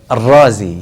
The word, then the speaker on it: Ar-Razi: How would they pronounce what they call Nisba? Ar-Razi, yes. Ar-Razi is from Arri. So Razi, last name, indicates that this person is from the city of Arri.